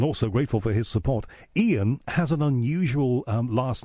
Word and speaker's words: Iain: But his name is Iain Lee, and I've filled in for him a number of times on this radio station and always been grateful for it.